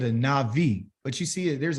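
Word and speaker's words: נביא: go nah bye well in hebrew there is no letter v okay i left it in its original letter which is a b it just pronounces a v it's called a navi okay navi nabi if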